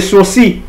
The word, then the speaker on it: sourcils: les sourcils, hein, on dit les sourcils. Bon, les L se prononce pas quoi. C'est par c'est parfitesse qu'on dit sourcil mais c'est les sourcils.